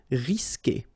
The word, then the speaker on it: risquer: So the sound you will get here, for instance, is que. Okay, you don't pronounce the U, so risquer.